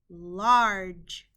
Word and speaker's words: large: to remember by heart when a g is followed by an e the g makes a j sound the word is large the o in this